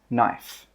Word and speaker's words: knife: The K in this word is silent. That means we don't pronounce it. So when we pronounce this word, it's knife. These are spoons, spoons.